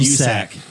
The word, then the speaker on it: USAC: And did I pronounce that wrong? I'm just reading off the list that Jeremiah gave me. That's funnier than vaccine. Then what? They call it USAC.